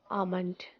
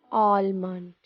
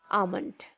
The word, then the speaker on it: almond: People actually have it in winter, but the trick to pronounce it is just remove the L sound in the word and we say almond, not almond. It's almond.